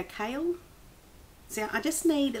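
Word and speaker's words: Chaol: won't go into it c h a o l we go kale so I just need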